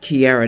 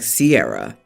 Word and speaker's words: Kiara: my name is Kiara it's pronounced Kiara nightly not like Sierra my middle name is